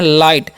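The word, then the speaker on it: light: तो हो गया ला जी एच यहां पर उसका उच्चारण नहीं किया जाता है ठीक है साइलेंट होता है तो इसे हम लोग पढ़ते हैं लाइट और लाइट मतलब क्या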